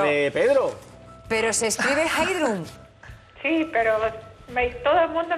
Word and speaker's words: Heidrun: Pero se escribe Heidrun. Sí, pero todo el mundo me llama Heidi. Heidi. Heidi. Pero la pronunciación íntegra y el escrito del nombre es sí, Heidrun.